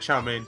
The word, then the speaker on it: chow mein: No, he said chow mein. Sushi. Me too. Is that not how it's pronounced?